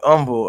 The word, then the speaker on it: Humble: There was a city called humble. Um umble spelled the same way. Just say umble.